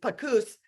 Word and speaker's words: Panus: It's like caboose, but it's Pagoose, is with us today.